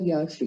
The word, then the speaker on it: yağışlı: geçecek yağışlı geçecek Evet yumuşak G harfinin doğru kullanımı kuralı karşımıza çıktı yağış sözcüğündeki yumuşak ya he düşürülür Bir önceki sesli harf bir ses uzatılır yağış hasla denmez yağışlıdır doğru telaffuzu bileyim öyle yer yer